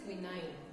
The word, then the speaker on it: quinine: How you used to pronounce it? It is quinine. Okay, quinine.